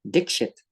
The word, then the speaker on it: Dixit: The rest of the class were robbed of laughter as a release of tension because the teacher, Mr. Dixit, actually pronounced Dixit, was one of those bad ones, a beater.